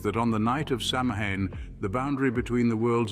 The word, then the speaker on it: Samhain: Samhain, pronounced Samhain, marked the end of the bountiful harvest season and heralded the beginning of the long, cold winter, often associated with human death.